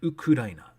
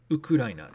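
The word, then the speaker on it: ウクライナ: countries right so ukraine i assumed it was but it's actually ukudaina ukudaina is how you say ukraine and japanese that's a weird one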